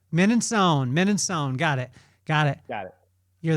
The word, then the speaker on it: Mininsohn: Mininsohn.